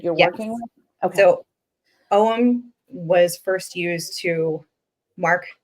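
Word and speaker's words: Ogham: druidic alphabet it was it's called om you'll see it spelled OG g h a m it's named after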